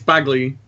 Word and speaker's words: Bagley: It's Bagley, just so you know for future reference.